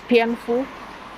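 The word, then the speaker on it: 蝙蝠: So bats are considered considered luck in the Chinese culture because the pronunciation of bats is pianfu, which is a homophone, like it sounds the same as luck.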